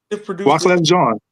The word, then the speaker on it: Wyclef Jean: Wyclef Jean. Rhymes with Sean. Jean.